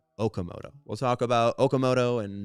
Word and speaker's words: Okamoto: Not Okamoto. Kazuma Okamoto.